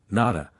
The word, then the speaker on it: Nata: The name of the hero of the Aztec story, Nada, pronounced with the broad sound of the A, is not far from the name of Noah or No.